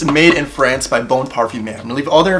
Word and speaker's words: Parfumeur: Parfumeur? Not parfumer. Parfumeur.